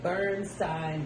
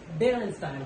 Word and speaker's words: Berenstain: Even if that is how it's spelled, that's not how it was pronounced. At all. It was the Bernstein Bears.